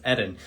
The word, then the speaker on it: Eden: eden um or as i always call him eden but i've been told by several people his name is pronounced edin so i do apologize about that but welcome